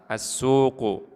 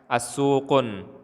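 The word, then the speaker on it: السوق: Jadi tidak boleh kita katakan as-suqun. As-suqun tidak boleh. Kita harus membacanya tanpa tanwin. As-suqu.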